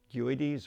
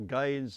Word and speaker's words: Guedes: this rifle, which is a Portuguese Guedes or Gades. There are many pronunciations. The Boers used to call them Giddy, G-H-I-D-D-Y, a Giddy, or I call it a Guedes rifle.